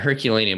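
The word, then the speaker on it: Herculaneum: Yeah, Herculanium, which is a smaller portion of the city that was destroyed in the eruption of Mount Vuvius the same time Pompei was.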